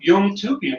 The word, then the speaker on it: Yomtoubian: Okay, well, today here on Dojo Live, I am honored and delighted to have Ruth Yomtoubian, right? Did I pronounce it correctly, Yeah.